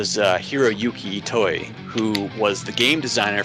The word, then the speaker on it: Ito: And it's Ito, not Itoi, because there's no I on the end.